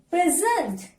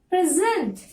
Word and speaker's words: present: As it is a verb, you have to stress on second part.